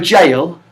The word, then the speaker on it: gaol: Oh, like a jail. Like jailhouse rock. Jailhouse rock. Jail. Yeah. And then you can spell it Gatol. I've never heard of Gaol. Jail. Yeah.